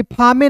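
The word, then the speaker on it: fame: तो अंतिम में इ है। इसका उच्चारण नहीं करते हैं। फे यहां पे फ में नहीं पढ़ते। इसे पढ़ते हैं फेम।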